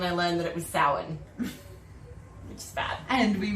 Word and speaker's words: Samhain: i knew how it spelled and i was pronouncing it for the past like 20 years samhain and i've discovered this week i was this years old when i learned that it was sour which is bad and we realized that i